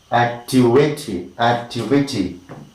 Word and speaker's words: activity: Next is activity. 1, 2, 3. Activity. It is activity. T. Alright.